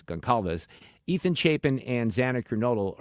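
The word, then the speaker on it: Gonçalves: It's a little hard to pronounce her name. It's like Gonzalez, but it's Gonalves.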